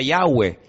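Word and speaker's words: Yahweh: y he Bad he verdad ese nombre se pronuncia yahwe Ese es el nombre que aparece en el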